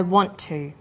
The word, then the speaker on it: want to: Jerry says, I want to. The final t sound in want is held slightly longer on the tongue. Then to is pronounced. The t sound is pronounced only once. I want to.